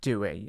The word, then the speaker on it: Doué: I pronounced that right? Doué, yeah.